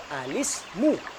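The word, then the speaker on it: الاسم: kita sambung menjadi satu cara membacanya adalah alismu sekali lagi alismu saudaraku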